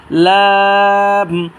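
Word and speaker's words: ل: নাম হচ্ছে লাম এর লামটা উচ্চারিত হবে জিহ্বার আগার কিনারা সামনে দাঁতের মাঝির সাথে লাগাবো এবং তিন আলিফ টানবো লাম লাম এই হরফটার নাম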